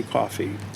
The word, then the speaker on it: Coffey: And I should just point out that coffee is not spelled like the beverage. Correct. Coffey.